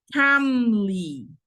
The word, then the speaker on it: calmly: Calmly. Calmly. La L es silenciosa.